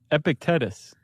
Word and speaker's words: Epictetus: Uh, well, I'm going to pronounce it epic. Epict epitectus. Epictetus.